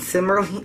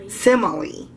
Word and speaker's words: simile: learning about metaphors and simly simmerly is it simmerly Sim simile I never could say that word right I know how to say it I just never could say it right um he's been learning